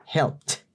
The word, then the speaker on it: helped: Ese ed se pronuncia como una T seca. Helped.